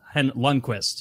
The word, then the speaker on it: Lundqvist: His last name sounds like I said that Kvist because so he can help him spell it. It's Lundqvist, is how you say it.